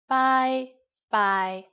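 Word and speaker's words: 拜拜: and you are right it's just like the english bye bye with a cantonese pronunciation bye bye and in formal situations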